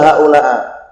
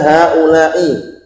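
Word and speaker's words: هؤلاءِ: Jadi haula'i enggak bisa dibaca haula'u wala haula'a. Bacanya hanya haula'i.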